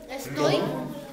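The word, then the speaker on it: 龙: We can pronounce it. It's a dragon. Long. Everybody say long. Like Long.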